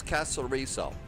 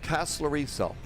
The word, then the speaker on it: Kastellorizo: Instead of Ho, it's Kastellorizo. You do say the Z. LGAF Tower. So, that Z. So, Kastellorizo. Kastellorizo. So, you do pronounce the Z.